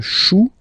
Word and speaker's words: chou: Then, un chou, okay, remember, when you combine this C and H, you get the sound sh.